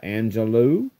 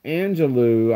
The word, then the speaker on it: Angelou: So, but it says here, Angelou, I'm assuming because it's L-O-U, it's Angelou, so, Angelou, who has read